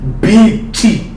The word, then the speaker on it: Biti: Yes, it's pronounced BT.